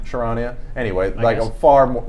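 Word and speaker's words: Charania: and then the Athletics shams how do you pronounce his name sure Anya sure Anya anyway I go farm like basically the shefter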